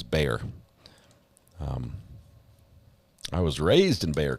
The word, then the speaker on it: Bexar: Yeah, I pronounced it Bexar the first time, and I got corrected right away, and it was Bexar.